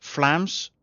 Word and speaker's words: Vlaams: No, Vlaams, but you pronounce the V like the Germans, as in with the F sound, don't you? So Flams.